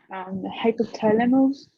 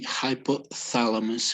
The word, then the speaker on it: hypothalamus: Okay, the pronunciation when we have a T and an H, it's as if you put your tongue between your teeth. Okay, and it's like as if you were blowing. So it would be hypothalamus, hypothalamus.